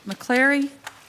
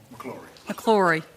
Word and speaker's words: McClory: Next, McCleary. Did I pronounce that correctly? McClory.